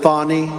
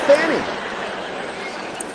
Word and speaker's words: Fani: it you saw what happened in Atlanta with fonnie f ni fonnie how do you pronounce f a n i fny it's Fanny they interviewed her I would never have an